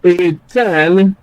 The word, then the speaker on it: return: For example, in the word return, the prefix is re, and so it is not stressed. Return. Likewise, in the word about, the prefix is about. That prefix is not stressed, so stress naturally is placed on the second syllable.